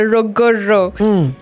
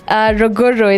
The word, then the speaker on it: Ruguru: It's a Ruguru. Ruguru, it's Kikuyu.